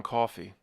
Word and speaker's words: Coffey: Sorry, John Coffey, like the drink, ma'am, just not spelled the same.